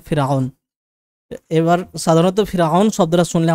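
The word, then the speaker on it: فرعون: ফিরআউন বলতে কোনো এক ব্যক্তি নয়, যেটাকে ইংরেজিতে বা বাংলাতেও আমরা পড়ি ফেরাও। তো সেই ফেরাও সেটা আরবি উচ্চারণে ফিরআউন।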